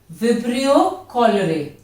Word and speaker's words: Vibrio cholerae: It is caused by a bacteria Vibrio cholerae. Be careful of the pronunciation also. Vibrio cholerae.